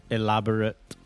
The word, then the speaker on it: elaborate: So when you see the suffix A-T-E at the end of a noun or an adjective, the pronunciation is always ut. Private, elaborate, okay, approximate, always ut when it's ate on the end of a noun or an adjective. Example of a noun with ate on the end, we all love this one, chocolate.